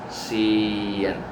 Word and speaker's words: sien: No, it's sien. Right, sien. So if you keep watching these videos in a very intuitive manner, you will get the feeling of this difference between short and long syllables.